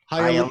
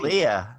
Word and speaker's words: Hialeah: Hialeah. Hialeah.